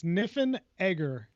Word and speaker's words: Niffenegger: i would say that it's niffen egger niffen egger niffen like schwarzenegger but niffenegger yeah it's just i'm